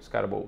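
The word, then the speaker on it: Skattebo: Agora que eu aprendi a falar a pronúncia do nome dele. Scatable. Scarable.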